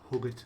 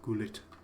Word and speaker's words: Gullit: Huggett as well, or it's actually pronounced Gullit, apparently, according to the man himself.